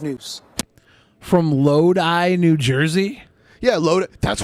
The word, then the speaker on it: Lodi: Like you got a load in your eye. L O Di. That's Oh, L O Di. So like Loi Lo, but they pronounce it Loi.